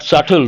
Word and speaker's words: subtle: not related here but subtle the letter B is silent means subtle changes means